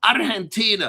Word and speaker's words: Argentina: You got to say it right, got to roll that first r real quick, not too long, like like burro, this is Argentina, a very quick roll, okay?